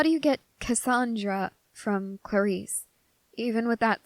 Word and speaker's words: Clarisse: yeah that's me um it's actually pronounced Clarice though yeah my parents decided